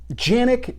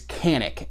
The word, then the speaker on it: Canik: little aside here uh yannick as far as i understand is the proper pronunciation however the more common pronunciation is canik and at this point